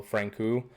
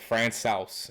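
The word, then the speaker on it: Francouz: backup I always refer to them as Pablo Frank ooh I got the correct pronunciation on that finally Oh what is it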